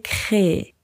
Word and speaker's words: créé: e à la suite donc c r e e e et ça se prononce tout simplement l'Indochine a été créé je vous expliqué dans